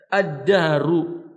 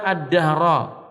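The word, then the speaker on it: الدهر: Kata beliau, yang benar lafaz ad-dahru dalam hadis dibaca dengan dhammah. Ana ad-dahru. Sebagian orang Muhammad bin Dawud membacanya ana ad-dahra.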